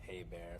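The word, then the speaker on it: Hebert: and by the way my last name is pronounced hey bear if you care yes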